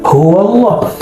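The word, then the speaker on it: هو الله: Jadi alaslu fihi hu bila wau ada hu tanpa nyebut wau qul hua huallah karena dia disambung maka dibaca huwallah tapi jika dia diwakafkan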